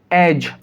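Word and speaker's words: edge: आपने देखा यहाँ पर जी है और जी से पहले डी लिखा हुआ है, जी से पहले डी है, तो इस कंडीशन के अंदर डी साइलेंट होगा।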